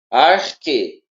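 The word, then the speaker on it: ἀρχή: Você pronuncia esse X aí, vamos colocar, não é o X, vou colocar de uma Uhum. forma mais fácil aqui. Uhum. Esse X aí você pronuncia como o Corri. que, entendeu? Arque, arque, que. Ele vai ter o som de que também, tá?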